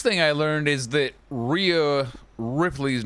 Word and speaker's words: Rhea: Well, the first thing I learned is that Rhea Ripley's name is pronounced Rhea and not Rhea, so I've been saying it wrong for the whole time I've known her existence.